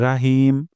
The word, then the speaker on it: রহিম: হবে হবে না বিসমিল্লাহির রাহমানির আর শেষ পয়েন্টে হলো তিন নাম্বার পয়েন্ট হিম আমরা এখানে হা উচ্চারণ করব গলার মাঝখান থেকে অধিকাংশ সময় দেখা যায়